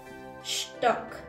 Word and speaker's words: Stock: La S al principio en el alemán se pronuncia como una sh, Stock.